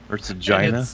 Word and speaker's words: Herzegovina: Oh, Herzegovina. Bosnia and Herzegovina. Herzegovina. Thank you. Herzegovina.